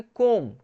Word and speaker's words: comb: तो जैसे यहाँ पे देखिए, यहाँ पे COMB का मतलब यहाँ पे बी ना साइलेंट रहता है तो इसको बोलोगे कोम। क्या बोलोगे, कोम।